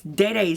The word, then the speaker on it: DD: Actually, I heard from Angelica today that she met her, and it's actually not even pronounced DD Signature. It's Dede Signature, which I did not know that.